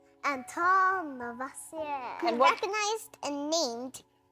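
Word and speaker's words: Antoine Lavoisier: That guy has a fancy name, but I think I need to pronounce it like this. It's French. Antoine Levoisier.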